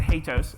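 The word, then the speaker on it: HATEOAS: How many people even pronounce it? I pronounce it hats.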